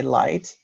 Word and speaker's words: light: and then I know the g-h are not pronounced so I can immediately say light and when I say